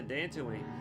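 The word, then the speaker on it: Dantooine: so we're heading to dancing Wayne the one planet that rhymes with Tatooine and was mentioned offhand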